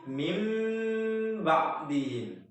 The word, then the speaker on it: min ba'dihim: Contohnya itu min ba'dihim menjadi mim ba'dihim. Mim ba'dihim.